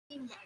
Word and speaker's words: scientific: Scientific. T. It's T. Scientific. Do you hear it? Scientific. It's a little confusing because a lot of times when you have a word with 3 or 4 syllables or more, there could be more than one accent. Okay. And Yeah. but still one sound is going to be louder than all of the other.